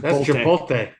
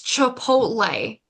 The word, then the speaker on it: Chipotle: are you watching chip chipot chipot Ronnie you do it too yeah chipot chipot that's not how you say that how do you say it it's Chipotle Chipotle well there's no you